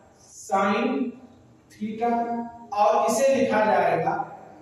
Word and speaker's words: sin: अगर इसको प्रोनाउंसिएशन किया जाए तो इसको अगर आप पढ़ेंगे तो सिन पढ़ेंगे इंग्लिश के हिसाब से, लेकिन इसका प्रोनाउंस चूंकि ये शॉर्ट फॉर्म लिखा हुआ है साइन का, SINE साइन, इसका पूरा नाम साइन होता है, लेकिन यहाँ पे शॉर्ट